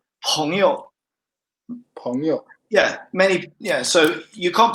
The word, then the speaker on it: 朋友: So this peng is not is a bit different from this peng actually. It's confusing. And it's just this is the only word that sounds like that. 朋友.